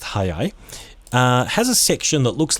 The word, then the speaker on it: 早い: Okay, the one on the right here, also pronounced hayai, has a section that looks like the kanji for sun.